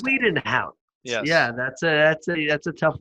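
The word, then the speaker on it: Bezuidenhout: Bazwedenhout is how it's pronounced. Bazwedenhout.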